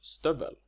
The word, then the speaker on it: stövel: For example, the neuter form of hög is pronounced högt, and stövel is, as you hear, pronounced with a short vowel.